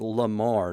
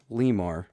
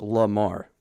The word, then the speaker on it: Lamar: he is you know his name is Lamar not Lemar yeah lemur Limar La Cucaracha it doesn't matter well it's pronounced Lamar yeah Lamar I hear